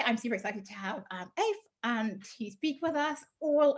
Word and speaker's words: Aoife: So I've heard multiple variations of how to say my name. So it's not the first time, but yeah, it's Aoife.